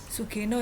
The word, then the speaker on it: Sugeno: mamdani dan metode sugeno sugeno ya bacanya Ya orang Jepang ini bukan orang Jawa bukan sugeno bukan sugeno nah mungkin anda juga masih